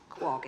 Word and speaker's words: Quogue: It actually probably Quogue is the way that maybe it should be pronounced, but it's now pronounced Quogue.